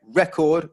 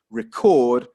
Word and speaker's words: record: Again, record, first syllable, the noun, record, second syllable verb.